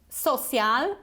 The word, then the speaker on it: social: we have this oh so it's not social or social it's so like home social social okay word number